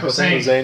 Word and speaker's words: Posehn: Actually, Brian Posehn, or how do you pronounce his name? Brian Posehn.